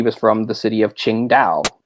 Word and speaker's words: Qingdao: from some simple things if you see a Q in a Chinese name that's the CH then let's check so that helps a little bit like she was from the city of Qingdao spelled with a Q